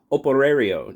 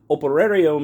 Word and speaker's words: Operario: MAM Operario. Now, I know I'm not pronouncing that correctly because I don't roll my R's. You know, it's out of Portuguese. So, from what I understand, Operario means worker in Spanish, Portuguese.